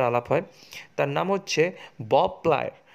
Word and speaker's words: Beau Plaisir: তার নাম হচ্ছে বব প্লায়ার, উচ্চারণটা হচ্ছে বব প্লায়, বানানটা BEAU PLAISIR, বব প্লায়ার বা বিউ প্লিজার অনেকে বলে।